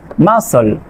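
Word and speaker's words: muscle: কিউ বা ঠি থাকলে আপনার এই সি লেটারটি সাইলেন্ট থাকবে। এখানে খেয়াল করেন সায়েন্স, মাসল, এখানে কি আছে, এস এর পরে সি আছে।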